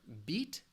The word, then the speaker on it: beat: But also keep in mind, think of that long E sound, that smile.